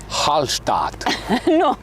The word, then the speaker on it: Hallstatt: Hallstatt! Did I pronounce that right? Yes, but try it next time with a little bit more confidence! Haaallstatt! Hallstatt, easy :) The location from